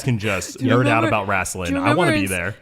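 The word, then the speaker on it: Raistlin: She is even quoted by saying that she is a particularly huge fan of Raslin Majere. Did I say that right? I don't know. Raslin? Raslin, you said correct.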